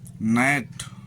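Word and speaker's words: knee: जी silent, N के पहले आया हुआ जी प्रायः साइलेंट होता है, जैसे डिजाइन, रचना, रिजाइन, त्यागपत्र, नेट, पिस्सू, साइन, चिन्ह। एच साइलेंट, एच के पश्चात ओ होने पर एच साइलेंट होता है, जैसे ऑनर, सम्मान, ऑनेस्ट, ईमानदार।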